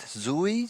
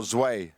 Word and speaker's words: Zwei: Is it Zoe? Zoe? Oh, Zwei. Zoe. Zwei, yeah.